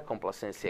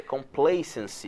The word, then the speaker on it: complacency: Não é complacency, é complacency. É, palavra de difícil. A pronúncia dessa palavra é complacency.